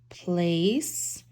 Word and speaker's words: place: mat placemat oh ace remember that c is a soft c because it has the e next to it so it's going to sound more like an s place um place matt which